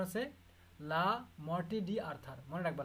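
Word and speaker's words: Le Morte d'Arthur: এটার নাম হচ্ছে লা মর্টে ডি আর্থার, উচ্চারণ হচ্ছে লা মর্টে ডি আর্থার, মনে রাখবা, লা মর্টে ডি আর্থার, written by sir Thomas Mallory.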